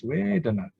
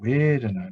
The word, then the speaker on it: vedanā: V is pronounced like W.